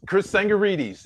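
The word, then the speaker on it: Chris Tsangarides: Chris Sangarides is how you pronounce it.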